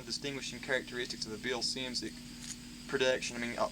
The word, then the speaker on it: Szymczyk: Bill Simcik. Simcik. Simcik. Okay, yeah, just great. It's like Great. Phonetically, it's SIMZICK.